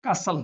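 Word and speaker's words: castle: अब देखिए एन, टी हो गया साइलेंट इन वर्ड के अंदर। वो वर्ड आप लिखोगे, आगे 5-10 वर्ड और लिखोगे तो आपको पता लगेगा कि यहाँ पर क्या है, टी अपना साइलेंट रहता है।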